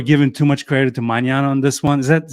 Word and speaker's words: Magnan: I feel like people are giving too much credit to Magnan on this one. Is that how you pronounce his last name? Magnan, yeah.